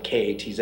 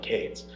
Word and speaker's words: Katz: Cates, and in Judaism, the last name K-A-T-Z is pronounced Katz, not Cates.